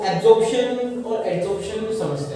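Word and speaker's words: adsorption: एब्जॉर्प्शन नहीं, pronunciation पे ध्यान दो, एडजॉर्प्शन। यहाँ एब है, यहाँ एड आ जाएगा, मतलब एडी आ जाएगा, एडजॉर्प्शन।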